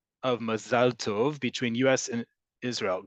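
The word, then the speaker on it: מזל: In modern Hebrew, the default pronunciation is always on the last syllable. Mazal, mazal. In Ashkenazi Hebrew, the default is on the penultimate, the second to last one. Mazel, mazel.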